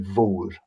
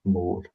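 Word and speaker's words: mhòr: Um, but when you have an h in it, it turns the m into a v sound. So, it would be vor rather than more.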